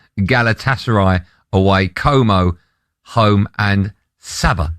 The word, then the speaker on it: Sabah: And Sabah, rhymes with ABBA, away.